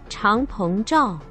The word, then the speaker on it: Changpeng Zhao: Binance fue fundada en 2017 por, y pidámosle un poco de ayuda al tío Google para pronunciar el nombre correctamente, Changpeng Zhao.